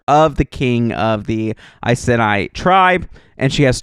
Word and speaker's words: Iceni: And I looked up how to pronounce that, and that is how you pronounce that, Iceni, at least according to the internet.